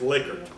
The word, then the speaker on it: Likert: If you didn't learn anything else, learn that he's pronounced Likert.